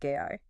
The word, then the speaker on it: GAI: Yeah, they're facing some serious backlash over this new AI system they're calling GAI, pronounced GI, and specifically how they plan to use vast amounts of user data to train it.